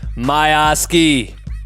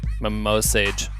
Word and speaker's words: Miosge: with my homie Jake my Oski I just I just learned how to say his name cuz this whole time I thought your name was Jake my mo sage you know sorry about